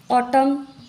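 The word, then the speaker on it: autumn: यन silent होता है for example ऑटम यहां के यन का हम प्रोनंसिएशन नहीं करते हैं साथ में आए दोनों एम एन उसको बोलते हैं हम ऑटम डैम यहां पर भी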